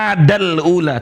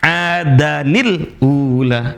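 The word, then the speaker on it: عادًا الأولى: Nah, cara bacanya bukan dibaca adal ula, tapi ada nun mati eh sori nun yang berhakat ke sarah setelah da adanil ula.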